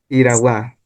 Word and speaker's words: irawagua: Con la letra R tenemos la palabra irawagua que significa que la pronunciación es iragua.